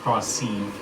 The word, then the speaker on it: Kralsev: There's an accent on the E. Why the fuck would I remember that? Because it's pronounced cross-seed.